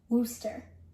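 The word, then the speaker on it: Worcester: what about this second largest city in massachusetts wooster next how do you pronounce the popular town in new england for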